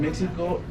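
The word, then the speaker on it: México: Somebody think this is the moon, and it's important because Mexico, it's very strange that Mexico, it's writing with X, but we pronounce with J.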